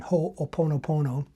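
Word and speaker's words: Hoʻoponopono: And one tool that is popular out there that you can try yourself is oponopono. I think I'm saying that right. It's a Hawaiian spiritual tradition. Oponopono, I believe, is the pronunciation.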